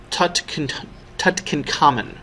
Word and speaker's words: Tutankhamun: More accurately, it's pronounced King Tutankhamun.